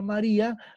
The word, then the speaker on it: María: Por ejemplo, en el caso de la palabra María, la que suena más es ri. Las otras dos no suenan igual.